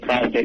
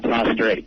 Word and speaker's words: prostate: I'm impressed with you the fact you said prostate not prostrate which is good prostrate second of